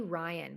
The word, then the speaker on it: Ryon: Kennedy Ryan, but it's spelled Ryon.